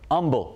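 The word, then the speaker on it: Humble: For example, green, which is certainly not spelled like the color, umble, which is spelled like the word, and then, of course, there's pedernales, which some people swear is pronounced perdonales.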